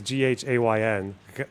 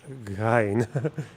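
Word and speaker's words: غين: So I just hear huh or guh, like that very silent guh, guh. But it's not that. Yeah, it's Ghayn. Ghayn. Ghayn.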